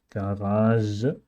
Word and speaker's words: garage: And then there's this special pronunciation, J, garage, J, which is mostly seen in foreign words that came to the German language.